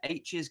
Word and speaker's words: Aech: the virtual world, but his best friend in the book is called H, and it's spelled AECH, as in, and you pronounce it as H.